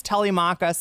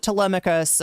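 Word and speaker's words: Telemachus: It's ty it's ty machakas. It's not Tmicus. Don't pronounce it Tmicus.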